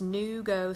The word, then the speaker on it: NuGo: is it spelled okay it is spelled new goes-in-you geo slim it's new go slim but not new any W in you go slim and these I found